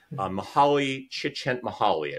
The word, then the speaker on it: Mihaly Csikszentmihalyi: It's a very difficult name to pronounce. Mihaly Csikszentmihalyi, I believe is his name.